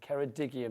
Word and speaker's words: Ceredigion: And it was Adam who told me that I used to say that wrong when I said Ceredigion. So if I'm now saying it wrong, it's down to Adam. But Ceredigion apparently is how you say it. So my apologies, I got it wrong.